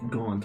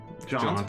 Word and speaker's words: jaunt: So you okay, can do okay, anything we want between the quick gaunt over to the thingamabob. Isn't that what it is? Quick jaunt.